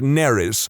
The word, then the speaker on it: Nerys: has the middle name Nerys, as in Major Kira, which would be fine, except that it's spelled exactly the same as a Welsh name, which is pronounced Neris, which is entirely not what I was going for.